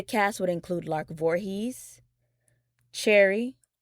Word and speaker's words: Cherie: The cast would include Lark Voorhies, Cherry Johnson, or it may be pronounced as Cherie Johnson.